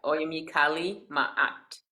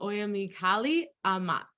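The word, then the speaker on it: Oyámie Kali Ma'at: Oya, Yeah, Oyami Kali Ma'at. oh, Oyámie Kali Amat. Oyámie No, Kali Ma'at.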